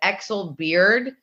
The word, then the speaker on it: Exelbierd: what's happening now first of all did I pronounce it correct these so close my last name is is Exel beard um you know growing up the youngest with